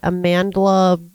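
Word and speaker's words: Amandla: This is a stupid name that upsets me, but Amanda Stenberg. Yeah, is that how you say it? Yeah, Amanda. Amanda with an L in it, randomly for no reason at all, is 26 today.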